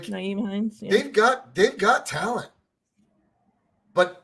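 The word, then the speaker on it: Nyheim Hines: Naeem Hines, right? Is that how you say it? Mm-hmm. Like, Naeem Hines.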